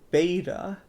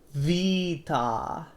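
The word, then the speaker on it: β: Our next one is beta. You may think it is like a beta fish, but in reality, it's vita. Vita. Yeah, it sounds like life in Spanish, which gives it more meaning.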